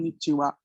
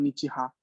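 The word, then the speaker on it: こんにちは: Que se escribe en japonés, se escribe con la sílaba ko, n, ni, chi y con la sílaba ha, pero al pronunciarlo se sigue diciendo con nichiwa, no se dice con nichiha.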